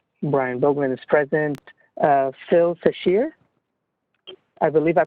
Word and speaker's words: Sashir: Phil Sashir. I believe I pronounced that right. This meeting is being recorded. Sashir, but you could pronounce it Phil.